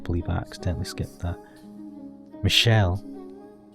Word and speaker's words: Michel: are you not well is it Michelle has asked have I been pronouncing around the right I'm going to call it say Michelle from now on that is my name yes but it's a